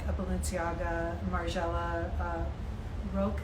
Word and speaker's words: Rokh: So the modern brands are more like a Balenciaga, Margiela, Roke. How do you pronounce that? ROKH.